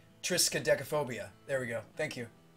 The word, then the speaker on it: triskaidekaphobia: Austin says it's Tristan technophobia severed says it's pronounced triskaidekaphobia triskaidekaphobia there we go thank you so it is